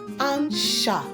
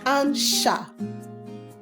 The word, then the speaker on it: un chat: Now, if we want to say a cat in French language, how do we pronounce a cat? We call it what? Un chat.